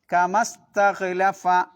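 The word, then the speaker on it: كما استخلف: ഇനി കമസ്ഹലഫ. അവിടെയും അതേപോലെതന്നെ. കമ നീട്ടാൻ ഒരു അലിഫ് ഉണ്ട്. ഇസ്തഹലഫയിലും ഒരു അലിഫ് ഉണ്ട്. രണ്ടിനും ഉച്ചാരണം ഉണ്ടാവില്ല. എങ്ങനെ ഓതണം കമസ് കമസ് കമസ്ഹലഫ. കമ ഇസ്തഹലഫ എന്നാണ് ഉള്ളത്. എഴുത്തിൽ. ഓതുമ്പോ കമസ്ഹലഫ.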